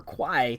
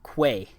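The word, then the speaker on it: Kwai: the movie is world famous as the river Quai that's actually not how it's pronounced in the Thai language in Thai it's actually River Quay I don't know why they spelled it k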